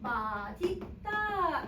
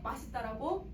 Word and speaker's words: 맛있다: 마디다 이게 원래 원칙 근데 사람들이 너무 잘못 살 너무 많이 발음 하네 맛있다라고 여러분 사실 맛 있다라고 발음한 사람 하 손님도 어 이거 너무 맛있다 이렇게 기가지 맛 있다라고 발음 안 한단 말이야 수업할 때만 맛 있다라고 하거든 맛있다라고 사람는데 너무 많이 발음 하니까 이건 허용 이게 원칙 응 알겠지 그래서